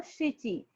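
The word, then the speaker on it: 七: If we want to say like it is 7 apple, then Mhm. we will say nana. When we want to say it is 7 o'clock or 7th month, we Mhm. will say shichi.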